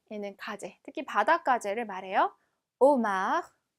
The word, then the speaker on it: homard: homard, homard. 자, 아슈는 무음이기 때문에 발음이 되지 않고 마지막 대는, 마지막 자음이기 때문에 발음이 되지 않죠.